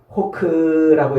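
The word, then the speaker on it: חֹק: 자, 율례라는 말은 호크라고 이렇게 발음을 하는데 색이다.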